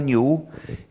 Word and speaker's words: GNU: Pero, y en inglés se pronuncia GNU, pero en castellano me han dicho que para ustedes es más fácil pronunciarlo como new, como si comenzara por ñ.